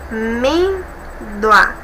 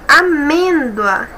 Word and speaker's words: amêndoa: Observe, amêndoa. Aqui nós temos um ditongo, olha, já é alguma coisa. E a nossa sílaba tônica é a penúltima? Observe, amêndoa.